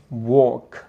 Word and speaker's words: walk: ဒါတော့က L clusters တွေဟုတ်တယ်ပေါ့နော် L မှာသူရဲ့ silent L တွေရှိတယ် LK LM LF ရှိရင်သူရဲ့ L ကိုတချို့စကားလုံးတွေမှာကျတော့ silent ဖြစ်ပြီးတော့ပြောတတ်တယ် walk talk chalk folk နော် folk မဟုတ်